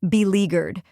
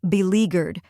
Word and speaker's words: beleaguered: in dog now let's put it all together be leaguered try repeating after me be leaguered now a little faster be leaguered and at